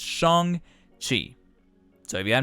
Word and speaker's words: Shang-Chi: time not realizing that i've been pronouncing his name wrong this entire time shang chi that's not how you say it it's shong chi so if you have not seen the film